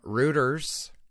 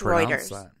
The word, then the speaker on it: Reuters: comes to us from rooters am I even saying that right Reuters how do you say that oh I think it's Reuters Reuters that's how that that's how all the news reporters said it when I worked in news Reuters okay yeah this is